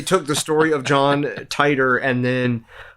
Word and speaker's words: Titor: how to say John Titor tighters name the Japanese say Teeter because TI is pronounced T John Titor wasn't real